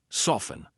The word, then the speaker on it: soften: Hustle or F-T-E-N, silent T. Often, soften. I'm not saying often.